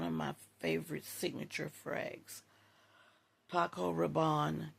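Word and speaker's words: Paco Rabanne: One of my favorite signature frags, Paco Rabon Caliandre. That is how it's pronounced and I love it.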